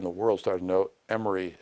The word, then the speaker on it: Emory: world started to know Emory is here in Atlanta and it's spelled e m o r y not m r y and that's the kind